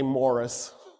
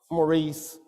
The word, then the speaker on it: Maurice: was a Roman Emperor his name was morius but of course we mispronounce everything so I'll just say Morris Maurice Morris morus is so much better Emperor moros had sided